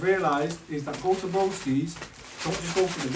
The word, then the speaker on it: Broskis: For anyone that's not tried Broskis before, are we even saying it right? Broskis. Broskis, yeah, it's Broskis. Yeah. It has to be Broskis, it's Broskis.